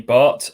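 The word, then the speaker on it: Bath: is danny bart um some people call him danny barth because it's spelt b-a-t-h but he was on loan at colchester when i was covering them and he was at pains to tell me it's danny bart so there you go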